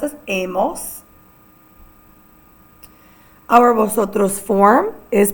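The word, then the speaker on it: hemos: Our H's are all silent. Our L A form is a spelled H A. Our nos form is pronounced amos. H E M O S. Again, it's pronounced as amos.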